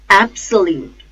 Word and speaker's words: absolute: syllable ball abolish abolish absolute absolute at sir root the stress is on first syllable AB absolute absolute acceptance